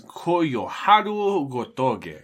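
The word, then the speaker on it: Koyoharu Gotouge: Gotage. Gotoge. What, do I need to pronounce this? Yes, please. It's her name is Koyoharu Gotoge.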